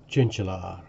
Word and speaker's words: Tjintjelaar: Hi Ben, it's pronounced Tjintjelaar.